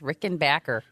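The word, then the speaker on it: Rickenbacker: oh excuse me Tom Petty said everybody's been pronouncing it wrong it's Rick and Backer oh he's got to be right I would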